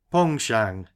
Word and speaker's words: penchant: for fishing heavy sides that's a French word begging your pardon Mr barsley and pronounced pong Shang you see in the French language there barsley well sir